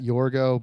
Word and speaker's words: Yourgeaux: I am on all platforms at Yourgo, but Yourgo is spelled Yourgeaux.